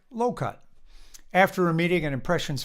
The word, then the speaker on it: LOCUG: Jeff and Charlie belonged to a Lansing Orange computer user group, acronymed LOCUG, and pronounced like low-cut.